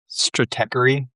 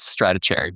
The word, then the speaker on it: Stratechery: There's there's an amazing Stratechery. I pronounced it correct that time. I used to think it was stratechery, but you corrected me.